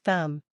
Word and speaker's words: thumb: have the silent B it's often silent when it comes after M at the end of a word examples include comb thumb climb listen to this comb is pronounced comb thumb is pronounced thumb climb is pronounced climb